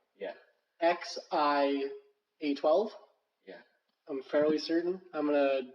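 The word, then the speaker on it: X Æ A-12: Okay, XAE, which is pronounced I. Yeah. XIA12.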